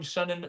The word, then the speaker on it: Sennan: Senna, I'm Sennan, rhymes with Lennon.